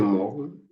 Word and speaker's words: Morgen: Now, when you pronounce this stuff, when you're pronouncing the morgen, the AN, you assume that the letter E is not there.